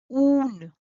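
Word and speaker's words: ऊन: In Hindi, it is called oon. Oon. This is easy pronunciation and is n.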